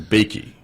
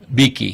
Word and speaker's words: Beakey: And again, it stars Ann, and you pronounce her last name Beakey. Beakey, yes, Beakey.